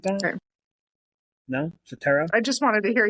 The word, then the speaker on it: Cetera: Peter, etc. Something like that. Okay. No, Cetera.